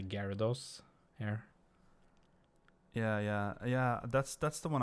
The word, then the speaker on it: Gyarados: It's kind of like when people like how they pronounce Gyarados. And Have you heard a lot of people call it Gyarados?